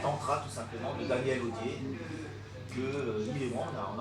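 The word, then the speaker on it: Odier: O-D-I-E-R, comme ça se prononce. Audier.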